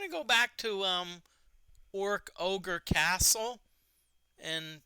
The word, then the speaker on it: Orkogre: go back to um orc ogre castle and thank you D Forte for telling me how to pronounce that because I always thought it was or oogi Castle or something like that okay oh yeah